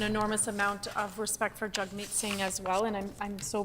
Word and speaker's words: Jagmeet Singh: I do appreciate my friend correcting me on the pronunciation, so I will Jagmeet Singh, and I've learned something new then in terms of pronunciation.